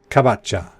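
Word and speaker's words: かぼちゃ: minute have written it down in Japanese it's kabocha cab at cha cha cha that's pumpkin [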